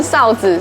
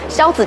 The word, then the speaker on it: 硝子: 这里是北一萧子馆，之前都一直念错，念成哨子，所以还以为是那种卖哨子的地方，结果不是，它是卖玻璃的，萧子就是玻璃。